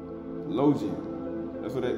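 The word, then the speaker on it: logion: Logium. That's how they say it in Greek.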